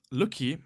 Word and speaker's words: Lucky: As actually surprisingly as well, Lucky, not Fuki as I mispronounced it earlier.